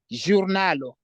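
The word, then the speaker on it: ĵurnalo: And the J with a cap is J. Giornalo. Giornalo is a newspaper.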